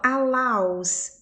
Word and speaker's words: allows: Essa palavra aqui também, ó, allows. Esse aqui, ó, esse meio aqui tem som de A. Allow, to allow, permitir. Então, allows.